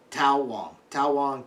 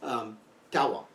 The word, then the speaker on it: Tao Wong: Tao Wong, however it's pronounced, because Taoism is pronounced like it's a D. Tao Wong.